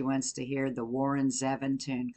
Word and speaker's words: Zevon: We heard some of this guy, Warren Zevon, the other night. I think that's how you pronounce it. Or I think Mary Jo told me that the other day at work, that it's Zevon, so I believe that's right.